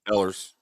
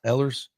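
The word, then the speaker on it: Ehlers: Ellers, what how do you pronounce that? Ellers. Ellers.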